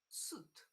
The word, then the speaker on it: suite: This one is pronounced suit, like this.